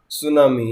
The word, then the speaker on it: tsunami: इसी प्रकार से देखो आगे, many were killed in सुनामी, यहाँ सुनामी से पहले टी और आना चाहिए। सुनामी की स्पेलिंग जो है TSUNAMI आता है।